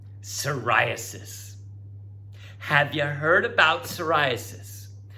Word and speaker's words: psoriasis: all right last one silent p soriasis have you heard about